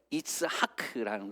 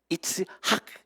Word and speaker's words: 이츠하크: 히브리어로 정확하게 발음하면요 이스하크라는 거거든요. 재밌는 것은 여러분, 아브라함이 아브라함으로 바뀌면서 그 이름에 그 이런 발음이 들어갔죠. 사라도요 사레에서 사라로 바뀌면서 사라 이렇게 발음되거든요. 이츠하크.